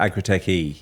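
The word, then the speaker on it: Agri-TechE: with a capital E after, is that just pronounced Agri-Tech? Agri-Tech E, yes.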